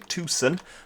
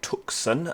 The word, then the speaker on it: Tucson: was pronouncing this wrong it's actually Tucson it's not Tucson as I've been uh saying so yeah we've got